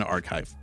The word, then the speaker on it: arXiv: It's a free document that they posted on ARXIV, okay? On Archive.